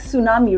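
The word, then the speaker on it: tsunami: हम ऐसे ही पढ़े क्या आप इस शब्द को क्या पढ़ते हैं सुनामी नो we pronounce it like सुनामी right what about this word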